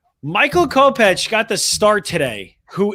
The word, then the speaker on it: Kopech: Is that how you say his name? I think you're saying it right. Kopech, right? It's Kopech. Kopech.